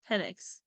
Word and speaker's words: Penix: You have to properly pronounce it. Penix.